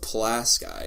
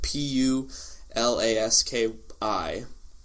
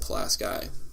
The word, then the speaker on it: Pulaski: small town that is also farming actually called plas guy it's spelled PU la SK I and I guess there are a lot of